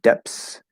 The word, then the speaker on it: depths: Is it common to pronounce depths as depths and lengths as lengths. Yes, it is. It is extremely common and probably the most natural way to say it.